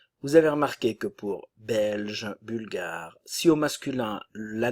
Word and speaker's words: belge: ne se prononce pas nationalité belge belge la Bulgarie ok attention